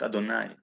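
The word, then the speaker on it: יהוה: take only later when the name yod have hey pronounced adonai when adonai elohim came into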